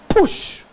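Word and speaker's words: פוש: The word grow up is a Hebrew word that's pronounced push.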